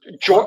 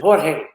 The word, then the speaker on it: Jorge: I think it's George Morales or George. I can't say the first name. But it is George in English, but in Spanish it's Jorge.